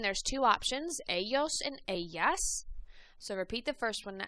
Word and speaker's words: ella: She is ella. Remember that double L, the ella, makes a y sound. Again, it might make a j sound, so you might hear ella or ella. Either way, I say ella because that's what we pronounce mostly in Mexico.